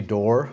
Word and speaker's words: Doerr: my name is D It's pronounced like the door and just straighten that